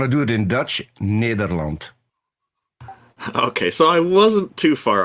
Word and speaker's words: Nederland: Peter, what is the correct pronunciation of your country name? The Netherlands if you want to do it in Dutch, Nederland.